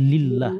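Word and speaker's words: لله: Tetapi ketika hilang, ya maka ini bukan Allah tulisannya, bacaannya, tapi lillah. Lillah.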